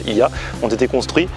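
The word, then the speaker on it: Oia: l'heure, et ici, Ia, ça s'écrit Oya mais ça se dit Ia, ont été construits à flanc de falaise, avec plein de petites maisons qui descendent vers la caldeira.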